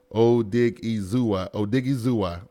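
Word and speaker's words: Odighizuwa: His name is pronounced like this. Odigizua.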